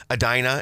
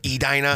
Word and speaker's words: Edina: I think while we were having the conversation, one of us said Adena or or I mean I'm sorry, Adina instead of Edina.